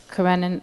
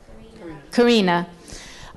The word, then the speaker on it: Karina: lot of it paralleled his relationship with Anna Karenina how do you pronounce her name Karina and I was wondering if and I know